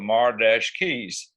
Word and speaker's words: Mar-Keys: It's still pronounced the same, for the marquee out front of the old theater. I said, can I spell it? And they said, yeah. So I called ourselves the Mar-Keys because it was a keyboard type instrumental.